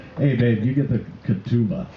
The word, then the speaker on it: ketubah: with it or not because part of the katuba thank you very much i said it right